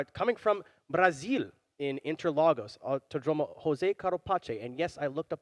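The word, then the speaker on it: José Carlos Pace: be taken to coming from brazil in interlagos jose carlo pache and yes i looked up the pronunciation of it yes indeed so now why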